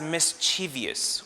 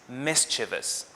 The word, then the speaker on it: mischievous: is the word mischievous some english learners pronounce it as mischievous which is incorrect the only correct pronunciation here is mischievous the word mischievous is